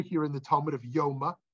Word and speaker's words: Yoma: in the talmud of Yoma sometimes pronounced Yuma I will which is